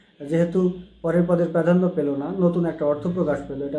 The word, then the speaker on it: নঞ: এজন্য এটা হচ্ছে যেহেতু পরের পদের প্রাধান্য পেল না। নতুন একটা অর্থ প্রকাশ পেল।